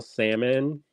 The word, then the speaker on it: salmon: lined cryst so pale salmon I didn't pronounce the AL y'all but I'm always tempted